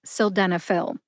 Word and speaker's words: sildenafil: s denil s denil has four syllables sill like a window sill Den like Denmark uh which is a short a sound or a schw a sound uh and Phil as in pharmacist Phil prescriptions for selenop put that